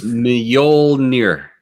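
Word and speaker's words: Mjölnir: No, but the J, M and a J next to each other makes that sound. So what does that sound again? It's Mjolnir. Mjolnir. There's an N. You're only pronouncing the ol and the near, really, and the first part is just kind of a meh.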